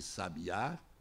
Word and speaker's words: sabiá: Se eu tenho, por exemplo, sábia, sabia e sabiá, são as posições do acento tônico que vão demonstrar e caracterizar três palavras diferentes: sábia, sabia e sabiá.